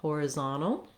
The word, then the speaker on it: horizontal: the stressed syllable so the z-o-n here the o says an ah sound that's typical in american english that letter o will often say ah when it's in a stressed syllable so trying building from